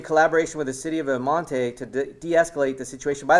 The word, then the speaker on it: El Monte: By the way, it's really weird for me to say El Monte because it's El Monte, but I know that that's not how they pronounce it, so that's why you hear me struggle with that.